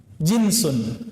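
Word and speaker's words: جنس: Jinsun. Jins. Pakai jeans enggak, Pak? Itu beda lagi ya. Jans itu bacanya ya.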